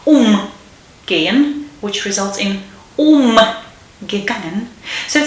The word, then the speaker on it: umgehen: Okay, so the stress is on the vowel after the prefix umgehen, which results in umgangen.